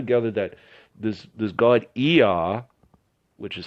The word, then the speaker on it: Ea: I'm able to gather that this does god er which is spelled EA for interests sake is the god